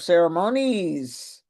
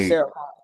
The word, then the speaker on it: ceremonies: So, I was the mistress of ceremonies, not ceremon.